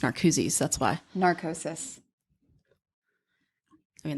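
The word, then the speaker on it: Narcoossee: it in Google, and I said Narcooses, and that is what Disney's. It did come up like that. So that's how you pronounce it. Listen, I wouldn't have known just reading it. I just heard it. Like watching. Do you know how many times I've called it narcosis?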